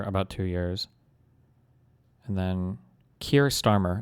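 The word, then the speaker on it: Keir Starmer: Trust trust trust sunnack was for about two years and then Kier Starmer is how you say his name.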